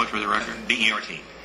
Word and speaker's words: Bert: B-E-R-T. And it is Bert, not Bernard or Bertram. It's Bert.